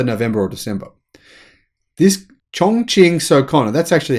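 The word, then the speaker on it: Sokon: This Chongqing Socona, that's actually how you pronounce it, by the way.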